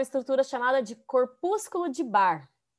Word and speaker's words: Barr: chamada de corpúsculo de barr é com dois erres vamos ter e se pronuncia assim de bar de bar não sei nem lembra